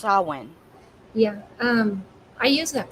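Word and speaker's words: Samhain: they call him but in Ireland it's actually pronounced sauwin yeah um I use that pronunciation I didn't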